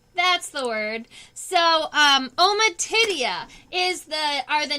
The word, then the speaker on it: ommatidia: Ommatidia. That's the word. So, ommatidia are the name for the individual small eyes inside of the compound eyes.